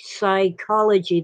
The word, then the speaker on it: psychology: get these words like psychology that start with the letter P but we pronounce only the s because frankly it's hard